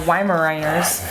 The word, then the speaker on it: Weimaraner: Lindsey says, I've been working with my 2 male Weimaraners on e-collar for a month now, and they're doing great.